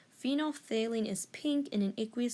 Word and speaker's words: phenolphthalein: That's how you pronounce it. It's a mouthful. I once had trouble saying that word. Anyway, so phenolphthalein is pink in an aqueous solution having a